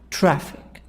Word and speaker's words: traffic: part number one subway trap traffic this word two parts two syllables traffic this part this word two parts two syllables we stress on the first part the sound is higher louder longer track track traffic traffic